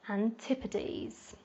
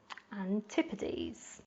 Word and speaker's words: Antipodes: number seven we've got Antipodes Antipodes so the S at the end of this word is pronounced more like a Z sound the Antipodes are referring